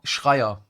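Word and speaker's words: Schreier: Here's the relevant exchange with Bloomberg reporter Jason Shrier or Shrier like we pronounce it in Germany.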